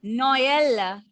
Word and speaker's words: Noël: Okay, so when you will get trema, axothrema in a word, you have to pronounce those two vowel letters separately.